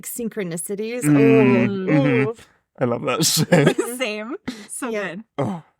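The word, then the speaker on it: 四: For example, the pronunciation of 4 in Japanese is like shi, and which is sounds the same as like saying death.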